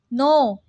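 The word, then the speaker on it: know: No. K. K is silent in no.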